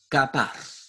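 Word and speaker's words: כָּפַר: La palabra expiación en hebreo se pronuncia kapar, con K de kilo, A-P-R-A-R.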